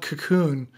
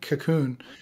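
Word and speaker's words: Kaqun: I believe it was developed in Hungary, and it's called Cocoon. It's spelled K-A-Q-U-N, Cocoon.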